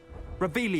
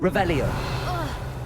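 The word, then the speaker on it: Revelio: Where are you, Revelius? You're saying it wrong. Revelia.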